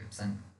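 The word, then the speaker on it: Epstein: याद कर लेना, बर्किट लिम्फोमा किससे होता है, ई बी वी इप्सन बर वायरस, टी साइलेंट इप्सन बर वायरस, और बर्किट लिम्फोमा होता है, मोनो न्यूक्लियोसिस कहलाता है।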